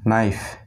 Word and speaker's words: knife: এটি খুবই সহজ, যখন কে এর পরে এন থাকবে তখন কে সাইলেন্ট থাকে।